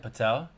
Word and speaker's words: Patel: Patel. Yeah. And it rhymes with Mattel.